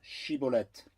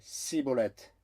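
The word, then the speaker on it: Shibboleth: Alors il lui disait dis maintenant Shibolette. Et il disait Sibolette car il ne pouvait pas bien le prononcer.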